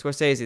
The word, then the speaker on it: Scorsese: Scorsese. Scorsese.